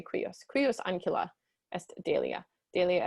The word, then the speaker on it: cuius: So cuius, or you could say cuius if you want, but I say cuius.